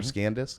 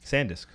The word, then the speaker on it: SanDisk: SanDisk or ScanDisk? SanDisk. SanDisk. There's no in- C. There's no C.